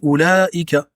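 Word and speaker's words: أولئك: Entre le lam et la hamza, il y a une prolongation à faire à l'oral.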